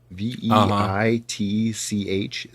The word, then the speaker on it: Veitch: It's Veitch, so it's a tricky pronunciation.